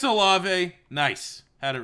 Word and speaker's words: Olave: I'm going to figure out how to pronounce that properly. All right, it's Olave.